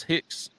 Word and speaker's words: Hix: my name there what's up with this Hicks h-i-x that's my last name